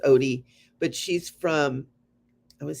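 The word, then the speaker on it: Outie: to Odie art and it's o-u-t-i-e-a-r-t it was Audi but it's pronounced Odie but she's from I would say the Netherlands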